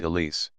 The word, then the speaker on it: Elise: Christmas Eves of Aunt Elise by Thomas lie Gotti a tale of possession in old crosspoint we pronounced her name with a distinct Z sound remember jack remember the